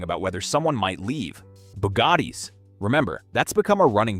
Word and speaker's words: Bugatti: Bugattis. Remember, that's become a running joke because people keep calling me out for mispronouncing it.